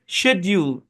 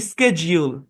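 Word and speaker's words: schedule: ভিটামিন আমেরিকানরা করে ভাইটামিন তারপর এই শব্দটাকে ব্রিটিশরা উচ্চারণ করে শেডিউল আর আমেরিকানরা করে স্কেডিজিউল স্কেডিজিউল হ্যাঁ এই শব্দটা উচ্চারণ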